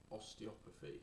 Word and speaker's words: osteopathy: You went to the British School of Osteopathy. Have I pronounced that right?